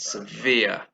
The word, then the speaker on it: severe: from being a light punishment it was very severe okay there the stress is on the second is severe three syllables for some schools in my hometown weren't